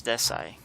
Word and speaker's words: Decy: start this one it's certain time versus desai that's how you pronounce it yeah he corrected uh